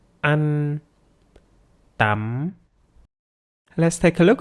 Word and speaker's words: ăn: So we don't forget to shorten the sound inward, like ăn.